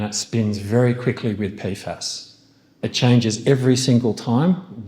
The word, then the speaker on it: PFAS: How do I pronounce that? PAS.